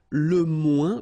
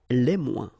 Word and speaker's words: moins: Okay, so le moins, remember when we combine this O-I-N together, we get the sound ouin, ouin, ouin, okay, and we don't pronounce this final S. Le moins, la moins, les moins.